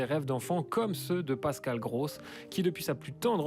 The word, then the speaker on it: Pascal Gross: Pascal Gross, voilà.